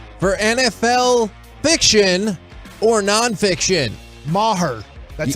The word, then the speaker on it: Maher: it is time for NFL fiction or non-fiction Maher that's how you say his name that's right